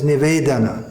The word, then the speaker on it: Nivedana: The word is Nivedana, not Nivedena.